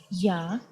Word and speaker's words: я: The next letter is Ya, Ya.